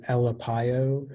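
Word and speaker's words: ʻelepaio: the information yeah so the only pronunciation is elapio it's a noun and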